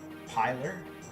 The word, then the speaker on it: Pilar: I want to say Pillar, but it's not Pillar. It's Pilar.